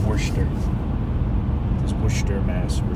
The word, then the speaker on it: Worcester: are we now it's Worcester it looks like Worchester w co r c EST ER yeah but it's pronounced portion earth this bush term as we're driving yeah we